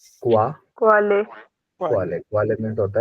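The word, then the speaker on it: Qualle: क्वा, क्वा, क्वाले, क्वा, क्वाले, क्वाले, क्वाले मीन्स होता है जेलीफिश। वाले नहीं बनेगा। क्वाले।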